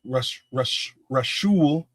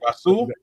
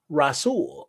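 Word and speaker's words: Rasul: Rash Rashul. Rash Faison. All right. So he's uh number 372 on here. Rasool. The H is the H is silent. Silent. My bad. Rasool.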